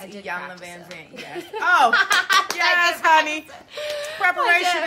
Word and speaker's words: Iyanla Vanzant: Most people get Iyanla's name wrong, so I always say just say Iya, like it's an I. Yeah, so it's Iyanla Vanzant.